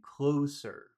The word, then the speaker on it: closer: And where's all of the sound in closer? Which syllable has all of the sound? The first one or the second one?